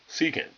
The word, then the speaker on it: secant: secant okay so if you're wondering how to pronounce that word it is secant alright I want to go over let's go